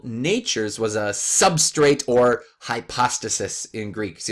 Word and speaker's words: hypostasis: was a substrate or hypostasis in Greek. So you'll sometimes hear it pronounced hypostasis, but more often hypostasis.